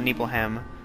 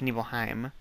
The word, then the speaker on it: Nibelheim: I think in Crisis Core they told me it was Nibelheim. I used to call it Nibelheim, but apparently it's Nibelheim.